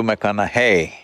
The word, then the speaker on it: McConaughey: the second name hey rhymes with what would madonna say so so i know you're matthew mcconaughey but do i know